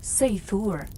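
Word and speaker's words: seiðr: Sometimes it relied on magic, specifically a mysterious practice called cider, pronounced seur, which was part sorcery, part spiritual therapy, and part my ex won't return my runes.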